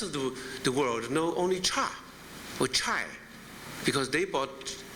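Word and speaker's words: 茶: character for t and it's pronounced cha in mandarin and in the rest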